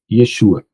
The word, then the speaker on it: Yeshua: tá na verdade Ah o J é uma letra que apareceu depois do século X tá não existia essa pronúncia J então Jesus era essos tá para poder ficar parecido com yesu Yeshua o meu nome é